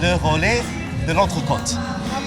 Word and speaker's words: Le Relais de l'Entrecôte: I am here with the franchisees of, let me try and say this right, Le Relais de l'Entrecôte.